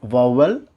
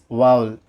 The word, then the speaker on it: vowel: Not vowel, it's vowel.